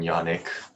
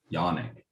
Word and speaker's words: Yannick: with like Sonic, like Yannick. But What? the It's name is Yannick. Yannick. Yeah. Yannick. As Does opposed to Yannick. It really doesn't bother me. Like I just does not rhyme with Sonic, everybody.